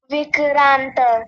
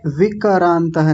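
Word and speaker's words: विक्रान्त: पहला वाला जो है विक्रांत विकारांतः नहीं विक्रांत क आधा होता है इसमें देखिए ऐसे वे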